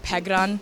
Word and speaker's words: Pegaran: Okay, well, my name is pronounced like Pegaran, so it's like, yeah, just like roll the R, kind of like that. But in kindergarten, it was